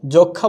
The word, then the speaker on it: যক্ষ্মা: ওরকম করে এটা কি সূক্ষ্ম বলবো, আমরা কি যক্ষ্মা বলবো না, হয়ে যাচ্ছে যক্ষা, হয়ে যাচ্ছে কি সূক্ষ্ম, এখানে কি আছে, দন্তস্ব